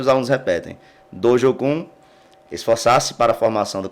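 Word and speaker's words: 道場訓: Sensei, então repete para nós aí, como se você estivesse aí no seu dojo, como que deve se pronunciar... Dojokan? Dojo-kun.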